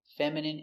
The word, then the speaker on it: feminine: Words ending in I N E can have different pronunciations. All of these have the sound in. Imagine, examine, engine, discipline, feminine, and masculine.